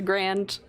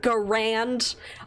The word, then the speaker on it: Garand: clang when the mag pops out of the grand or garand i pronounce that wrong ever go rand every single